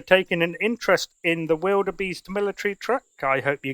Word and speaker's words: wildebeest: should say as well that pronunciation may vary from region to region you may know that as vilda Beast or maybe vilda BS uh but here in England land we call it wilderbeast so thank you very